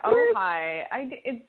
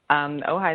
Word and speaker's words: Ojai: I am in Ojai.